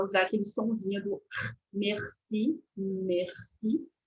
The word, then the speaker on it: merci: sonzinho do Merci Merci esse sonzinho do R é como se ele ele ele usa bastante esse sonzinho da da nossa cavidade bocal e você pode fazer um som similar É como se você tivesse fazendo um um Ah gargarisme um gargarejo acho que é isso em português um gargarejo